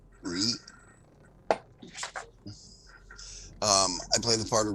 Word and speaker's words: Righ: Hi, I'm Ree, which is spelled exactly as it sounds, R-I-G-H, Ree.